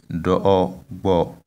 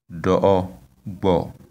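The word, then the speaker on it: dobo: The last word is do bo. The tone is on the three first syllables, and it means we took or nous avons pris in French. Yes, do bo.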